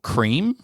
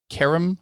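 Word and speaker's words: Krem: So, it's a character called Cream. Keram? I can't remember how to pronounce it. Cream, get on top.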